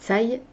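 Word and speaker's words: Cai: scarlett de la famille de taille puisque ça se prononce comme ça et le gang des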